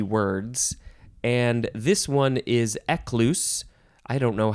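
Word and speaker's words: Ecclus: of these ecclesi words and this one is ekluse I don't know how you would say it because it's an abbreviation it is spelled capital e c c l u s ekluse and it's an abbreviation for ecclesiasticus which is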